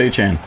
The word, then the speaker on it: Etienne: Sorry, Trevor Etienne. Obviously, Travis going to the Saints. They had a press conference, introductory press conference, where he said that their last name is actually pronounced Etienne.